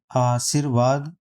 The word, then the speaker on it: आशीर्वाद: जब हम इसका उच्चारण करते हैं तो सा के बाद रा आता है, तो जब सा के बाद रा आता है तो उसके अगले अक्षर पर ऊपर वाली रा लगाई जाएगी, तो इसलिए इसका पार्ट ये